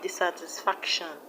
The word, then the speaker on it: dissatisfaction: We have dissatisfaction, dissatisfaction. The stress is on FAC, FAC.